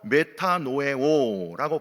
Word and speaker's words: 메타노에오: 자복은 말로 하는 것이고 회개는 헬라어로 메타노에오라고 발음을 하는데 이거는요 길을 바꿀 때 쓰는 단어예요.